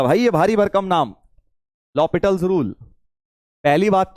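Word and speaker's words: l'Hôpital: को बता देना भैया कि एल हॉस्पिटल नहीं हैय कहीं व तुम दवाई लेने जाते हो व वाला हॉस्पिटल रूल लॉ पिटल रूल है एच साइलेंट है ठीक है भाई साहब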